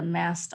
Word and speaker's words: mast: mast cells and there it's m-a-s-t is in tom or like a mast on a ship so the mast cells